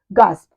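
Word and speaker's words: gasp: हाफना, हाफना, गास्प, हाफना, गेस्प, गास्प, गेस्प, दोनों ही इसके pronunciation correct है।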